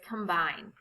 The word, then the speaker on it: combine: There are two syllables in complete. In the second syllable, the vowel E is followed by consonant T and E. The final E is silent and the E before it has a long sound, like E.